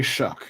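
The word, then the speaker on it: Shough: name is how you pronounce it. Tyler Shell. Yeah. Yeah. I don't Shuck. Yeah. Sh. How they say Shuck.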